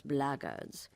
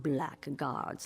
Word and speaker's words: blaggards: another one of those blaggards and that's the way to pronounce it not blackguards like that thug insisted it was then my answer is